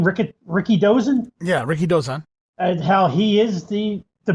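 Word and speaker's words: Rikidōzan: you say his name Rick Ricky dozen yeah Ricky dozan and he is the The Babe Ruth of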